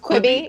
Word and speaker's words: Quibi: Is that how it's pronounced? Quibi.